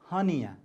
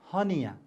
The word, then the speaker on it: hernia: this raw sound r r sound is silent here okay so you have to pronounce as h-e-r h-e-r-n-i-a honea once again h-e-r-n-i-a honea please practice it one